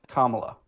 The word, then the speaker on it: Kamala: Kamla, how is Kamla racist? My bad. My bad. Kamala, is that how you say it?